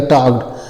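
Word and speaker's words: talked: तो इसको बोलते है टी ए है तो टप टा हो जाएगा एल साइलेंट हो जाएगा केडी है तो आधा क और ड हो जाएगा टॉड टड मीस होता है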